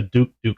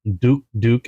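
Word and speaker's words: Douk-Douk: This one's a Frenchade traditional style Duke Duke. And I hope I'm pronouncing it right because it's Duk and they they say it twice. Duk duk squirrel.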